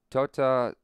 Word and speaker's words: tota: Tota, T as the Spanish soft. Tota.